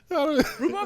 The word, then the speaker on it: rhubarb: There's a silent H in there somewhere. After the B.